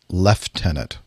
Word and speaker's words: lieutenant: question for you yeah why is it that you guys pronounce lieutenant leftenant I don't see an F in there I'm just curious I